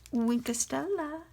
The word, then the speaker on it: Wink of Stella: and you need your wink of stella and yes you have to say it like that wink estella and i'm going to add